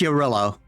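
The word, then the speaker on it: Jarilo: When I keep reading Jarillo, I keep reading it as Jared Leto, and I'm very upset with myself. It's pronounced Yorillo.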